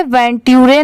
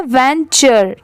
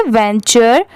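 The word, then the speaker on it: venture: इसे वेंटरे नहीं पढ़ेंगे। इसकी साउंड क्या है? वेंचर। ठीक है? टी की साउंड ट की नहीं आ रही है। च की यहां पर आ रही है। इसीलिए इसे क्या प्रोनाउंस करेंगे? वेंचर into the forest alone.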